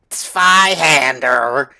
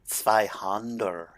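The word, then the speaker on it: Zweihänder: I'm pretty sure it's just kind of like Zweihander, which is one of the weapons you can get actually up in the cemetery, up in by Firelink Shrine, is two-hander in German. So Zweihander. Yeah. Not Zweihander. Zweihander.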